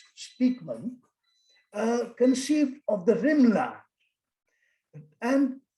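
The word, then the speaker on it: Spykman: spelled spikeman spy k m a n but pronounced speakman conceived of the rimla and his thing is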